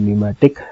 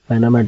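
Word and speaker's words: pneumatic: this control can बी न्यूमेटिक अच्छा ये न्यूमेटिक है इसको पनामिक नहीं बढना इसमें प साइलेंट है ठीक है मैकेनिकल और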